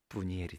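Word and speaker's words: 브니엘: 이런 바누엘이라고 하는 이 이름이 구약 성경대로 발음을 하면 안나가 한나의 듯이 바누엘을 히브리식으로 발음하면 뭐가 될까요? 분이엘이 됩니다. 분이엘.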